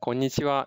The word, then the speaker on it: こんにちは: The final syllable of konnichiwa is actually a topic marker. It's written as ha, but it is pronounced as wa.